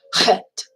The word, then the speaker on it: chet: Hey is, but chet. Okay, you got to give it that sound, and it is like the sound in the word lock or bach.